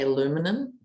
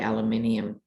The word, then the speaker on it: aluminium: going on international viewers for americans i think you say aluminum and in australia we say aluminium who's right who's wrong the point is he